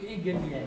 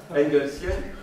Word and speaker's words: engelsienne: Engelsienne. J'ai entendu hegelienne. Oui, j'ai mal prononcé. Engelsienne.